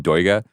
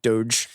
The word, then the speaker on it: Doig: Jim Crumley, Thomas McGuane, my new guy, Ivan Doiga, obsessed. How did you find out how to pronounce that?